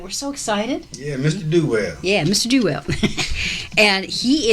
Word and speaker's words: Duell: Nathan Duell, did I pronounce it right? Yes, you did. All right, we're so excited. Yeah, Mr. Duell.